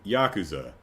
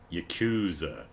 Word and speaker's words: Yakuza: But anyway, the proper pronunciation is much closer to Yakuza than Yakuza.